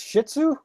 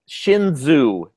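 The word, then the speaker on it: Shenzhou: It's the USS Shih Tzu? Shinzu. No, not like the dog.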